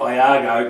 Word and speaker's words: Iago: Sam O'Mahony, Brad Moore, Greg Iago, not Largo as I pronounced him last week, apparently that's an I, so it's Greg Iago, their English import, Tyler